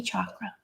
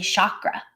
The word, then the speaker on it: chakra: or crown chakra you can work in any chakra notice I had to retrain myself I used to say chakra like a lot of people oh this yoga